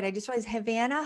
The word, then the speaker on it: Havana: right i just was havana havana havana yeah just like the city in kyouba love it which we